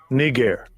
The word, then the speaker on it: Niger: uh-oh uh-oh one more time Strong's G 3526 KNE gear KNE gear perfect uh-oh uh-oh uh-oh see [